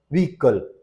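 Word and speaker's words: vehicle: देख लीजिए honest honour वकल वकल बोलना है एच का कोई साउंड नहीं है कई लोग वकल बोलते हैं ह पे जोड़ देते हैं नहीं एग्जॉस्ट आव ओके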